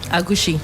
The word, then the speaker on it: agushi: Agushi. Agushi. Exactly. Uhhuh. Agushi. So aushi. Is that how you pronounce it? Yes.